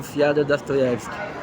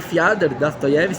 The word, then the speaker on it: Fiódor Dostoiévski: possível de livros do fiada dast toski e Passi a falar fiad da stoev porque eu descobri que é a verdadeira pronúncia porque em russs oó no nome próprio muito vez extensão de ar